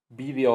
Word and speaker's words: vídeo: Hay palabras que aceptan doble prosodia correcta. Prosodia es acentuación. Aerobic y aerobic, Haiku yiku, periodo o periodo. Aquí hay una lista grande, vídeo o video, que se le encanta a